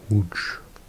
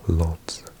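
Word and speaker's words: Łódź: This is the most incorrectly pronounced because people say lots because they think it's an L O D Zed. But actually this L with a little line through it is pronounced like a W because in Polish a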